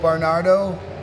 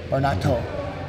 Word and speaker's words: Barnato: This here is Wolf Barnardo. Did I say it right? Barnato. It's a T, not a D.